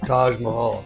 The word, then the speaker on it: Taj Mahal: building a t Mahal Taj Mahal Taj Mahal Taj Mah this isn't in English because in Spanish it's tah so the the roof